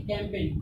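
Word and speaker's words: campaign: यहाँ पे क्या आया, जी के बाद एन आया, जी के बाद जब एन आया तो जी का क्या हो जाएगा, साइलेंट हो जाएगा। जी क्या हो जाएगा, साइलेंट हो जाएगा, यानी कि कैंपेन।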